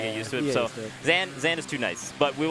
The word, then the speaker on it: Zain: Why are they saying Zain's name funny? Well, that's actually how it's pronounced.